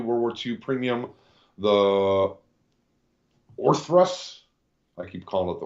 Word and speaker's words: Orthrus: We'll have a brand new World War II premium, the Orthrus. I keep calling it the Orpheus, but maybe I'm saying it wrong.